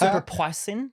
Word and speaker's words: poisson: It's actually pronounced superpoisson.